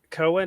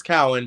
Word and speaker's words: Cowan: here with um Cohen am I saying your name correctly sure it's Cowin but it doesn't matter everyone mispronounces it it's fine Cowan